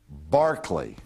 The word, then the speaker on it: Berkeley: the Anglican Church and his name was George Barkley is how it's pronounced oh I I never